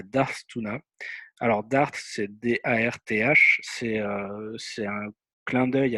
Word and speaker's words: Darth: Alors Darth, c'est D-A-R-T-H, c'est un clin d'œil à Star Wars, puisqu'en français on dit Dark Vador par exemple. En anglais ils disent pas Dark, ils disent Darth, TH à la fin.